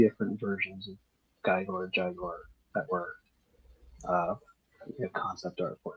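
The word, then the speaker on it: Gygor: and he pronounces it Jaguar. So G-Y-G-O-R. Interesting. All right. Yeah. Jaguar, folks. You heard it here. Jaguar. It's like Euro and Giro is like people pronounce Yeah.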